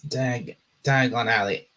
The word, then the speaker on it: Diagon Alley: It's Dagony. It's Dagon Alley.